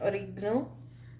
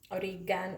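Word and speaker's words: oregano: इस पर सिर्फ मैं ओरिगनो जो है वो स्प्रिंकल करूँगी थोड़ा सा। ठीक, हमारा ओरिगनो है, ओरिगैनो, इसकी प्रोनाउंसिएशन डिफरेंट है, ओरिगैनो भी है, ओरिगनो भी है, और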